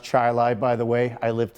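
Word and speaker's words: Chili: It's pronounced Chilai, by the way.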